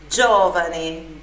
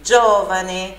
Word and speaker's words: Geovane: de Jeová né então não confunda com o nome de Wagner com dois enes e final e Geovane Geovane sílaba forte ali no ó repita aí ó tá